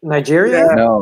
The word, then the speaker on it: Niger: Nigeria?